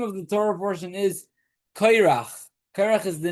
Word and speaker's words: Korach: It's in English they don't really have a way of saying this pronunciation of. So it would either be Korah or I'm not sure how they. Korach. Or something like that.